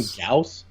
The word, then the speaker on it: Gyaos: Don't they call him Gaos? Gaos. Call him Gaos, like the Y is silent or something.